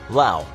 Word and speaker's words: Laos: Laos. Thanks to the US, the country of Laos, pronounced without the S, can say it's the most bombed country in the world.